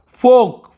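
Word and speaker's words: folk: फोक, फोल का नहीं पढ़ेंगे, फोक, फोक, फोक बोलते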